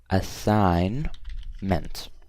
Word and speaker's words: assignment: for you guys but assignment has a silent G so I'm gonna say a sign meant okay this one's correct